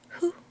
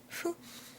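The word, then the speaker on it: ふ: And if you remember from katakana, we have ha, hi, and then instead of hu, we have fu.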